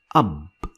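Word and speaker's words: أب: We're going to make some simple words using these 4 letters, like the word ab. Ab. And this is how it is pronounced in English.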